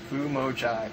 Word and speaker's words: FumoJive: My gamer tag is FumoJive. Everybody mispronounces this. FumoJive, Jive, whatever. But here's how you spell it. space space JIVE.